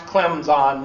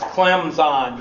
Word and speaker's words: Clemson: Okay, so that's the way you pronounce Clemson. You do not pronounce the P because then you're a dumb racist Southerner. So you have to pronounce Clemson. You have to put the Z in there.